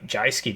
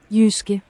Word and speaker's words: Jyske: The Jyski division. I can't do this anymore. I've got to say it properly. Yuski.